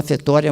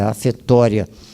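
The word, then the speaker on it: ἀφθορία: Afetória grega, se fala afetória, mas é A-P-H-T-H-O-R-I-A, no grego, né? Mas a pronúncia é afetória.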